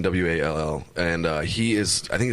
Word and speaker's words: Wall: Last name is pronounced a little bit differently because he's Canadian. So the way it was said, it was like whale or something like that. Sure. But it's Coulter and then Wall, and he is.